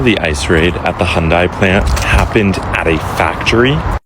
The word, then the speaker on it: Hyundai: Hyundai. That's how you pronounce it.